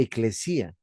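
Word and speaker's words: ἐκκλησία: Como el Nuevo Testamento se escribe en griego, lo correcto es llamarle eclesía, en los tiempos de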